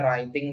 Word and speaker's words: writing: Itu kok nggak dibaca sih W-nya? Iya, dalam bahasa Inggris itu ada beberapa kata yang ada silent letter ya, silent letternya. Silent letter itu ada hurufnya tapi nggak dibaca gitu. Jadi misalnya tadi ya ada writing, menulis, itu memang W-nya nggak dibaca.